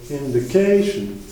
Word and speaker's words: indication: Du coup, on dit inflation et indication. Donc, on a une accentuation assez importante sur la syllabe juste avant le suffixe.